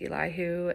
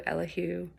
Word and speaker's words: Elihu: But the anger of Elahoo. And sidebar, this is one of those names that is pronounced several different ways. There's Elihu, Elhu. If your pastor says it differently, go with whatever your pastor says.